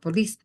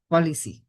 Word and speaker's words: policy: Just Isaac, be careful with certain pronunciation like policy, the maintenance policy, not police, policy, right?